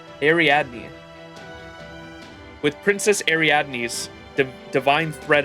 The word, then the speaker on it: Ariadne: sacrifices and ventured into the labyrinth with Princess Arand's. Oh my gosh, I keep forgetting how to say it. Ariadne. Ariadne.